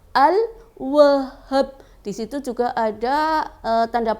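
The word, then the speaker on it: الوهاب: Al-Wahhab terdiri dari huruf alif, lam, wawu, ha, alif lagi, kemudian ba. Dibacanya Al-Wahhab.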